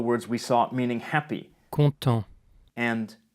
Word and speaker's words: content: content, The final T is silent, like most final consonants in French, the exceptions being the consonants in the word careful, C, R, F, and L.